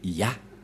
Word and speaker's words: Yah: La prononciation de ce terme est ceci, c'est Yah.